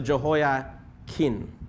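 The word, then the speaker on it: Jehoiachin: today yeah but yeah h is silent so jo hoya kin okay but this is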